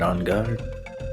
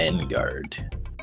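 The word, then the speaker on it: en garde: what do you mean that's how you pronounce it right on guard it's not in guard on guard it's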